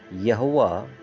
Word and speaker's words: यहोवा: या यहोवा कौन है उसे हम समझेंगे यहोवा इब्रानी या फिर इब्रू नाम यावे का हिंदी उच्चारण है जिसे यावे भी कहा